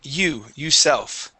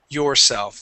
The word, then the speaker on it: yourself: not add that R, you'd be saying you self. Okay, the word is actually yourself. Let me have you try that, please. One more time. Yourself. Yourself. Okay, give me a good or sound at the end.